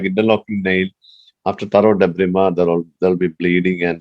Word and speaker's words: debridement: So even though you write it as debridement, you pronounce it as debrima.